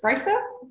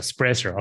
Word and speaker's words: Sprajcer: My second name is Sprajcer. So just a silent J. Oh, a silent J. So Sprajcer.